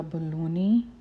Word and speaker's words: Bolani: मज़ेदार अफ़गानी पराठा या fried bread या बलूनी या बोलानी तैयार है। बाद लोग इसको बलूनी बोलते हैं, बाद इसको बोलानी बोलते हैं। प्रोनाउंसिएशन का डिफरेंस हो सकता है।